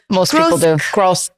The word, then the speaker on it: Grosklags: say your name wrong gross gross logs there's no what about the K it it's you just don't say it silent in Jackson the K is silent Jon but it's really